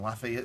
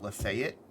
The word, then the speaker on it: Lafayette: And it always cracked me up to hear somebody who wasn't from the South pronounce it because they called it Lafayette, which is not right.